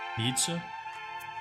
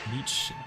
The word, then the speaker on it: Nietzsche: Nietzsche? Nietzsche.